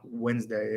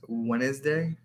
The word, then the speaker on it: Wednesday: Like Wednesday phonetically is not Wednesday. It's Wednesday.